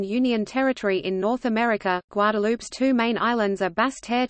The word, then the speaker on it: Guadeloupe: Guadeloupe, French pronunciation, Guadeloupe, Antillean Creole, Guadeloupe, is an insular region of France located in the Leeward Islands, part of the Lesser Antilles in the Caribbean.